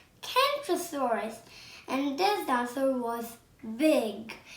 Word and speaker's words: Kentrosaurus: down to the kentrosaurus i'm going to tell you how to pronounce it can troll soar us kentrosaurus and this dancer was